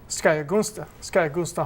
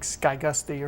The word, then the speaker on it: Skayagunsta: of your Virginia men, has been affectionately called by those of us who know him Skayagunsta Harmon, Heinrich Harmon. I understand the English pronounce it differently, like Skygusty or something to that effect.